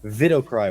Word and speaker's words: Widowcry: It's Widowcry is pronounced without the E. Vidocry with the V.